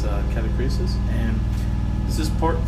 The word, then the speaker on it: Catachresis: I'm calling it Catachresis. I have no idea why. It's Catachresis.